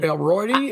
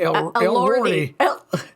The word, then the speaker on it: Elordi: Elroydi? Elordi.